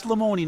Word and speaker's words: Lamoni: It is Lamoni, not Lamone. Everybody Correct. still calls you Lamone. It's Lamoni.